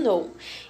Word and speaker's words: know: Eu sei que no, só pra deixar claro que esse que no não significa, não pronuncia o K, só significa, só pronuncia o no.